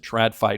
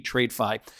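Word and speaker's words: TradFi: or trafi interacting blockchain I don't know why they pronounce it trafi it should be trade fi uh Ripple's Marcus infanger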